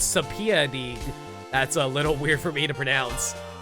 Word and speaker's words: subpoena: Oh, I know how to pronounce it. It's subpoena.